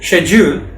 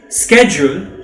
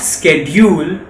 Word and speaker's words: schedule: you heard that right it is schedule in britain scheduled in america but it is not scheduled like how we say it in india my favorite subjects